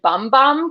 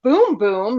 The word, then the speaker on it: Bum Bum: thought it was Brazilian bum bum cream and I'm like what what does anyone think this is and then apparently it's boom boom not bum bum but it's spelled b-u-m I'm just mispronouncing it